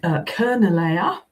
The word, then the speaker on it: Charnwood: We've got Kernelea, as it would have been pronounced in that period. Once it comes into Old English, we get that sort of ch sound for Charlie, and we can translate